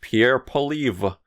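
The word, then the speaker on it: Poilievre: canadian conservative party um his name is i believe pronounced pierre pauliev because i i saw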